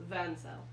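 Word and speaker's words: Vansel: name Madden cell what Ben cell like in cell okay then it's it's spelled v-a-n-s-e-l van cell okay all right van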